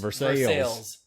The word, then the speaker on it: Versailles: since someone told me that versailles spelled you know french ways over s a s-a-i-l-l-e-s is pronounced versus sales and ever since that